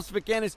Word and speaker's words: Sfakianos: How you pronounce it? Sfakianos. Sfakianos.